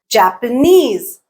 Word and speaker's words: Japanese: Japanese, Japanese, Japanese. Knees is the stressed syllable.